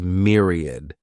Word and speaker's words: myriad: The next noun is myriad. This word has three syllables and the stress is on that first syllable. Mere sounds like mere.